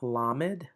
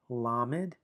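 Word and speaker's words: lamed: Now, we have lammed. lammed.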